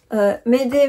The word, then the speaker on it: Mayday: Et une petite astuce pour Mayday, pour bien le prononcer, Mayday, Mayday, Mayday, c'est tu penses au mot aider, tu appelles à l'aide, donc tu as besoin d'aide, c'est Mayday comme une aide.